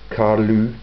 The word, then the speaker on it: Carlos: Carlos character who was Carlos I of Portugal yeah it it's pronounced uh CaRu the Diplomat also known